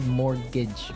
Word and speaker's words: mortgage: I mean, there's this strange mortgage with a T. Yeah, it has a T in it, but you don't pronounce it. You say mortgage.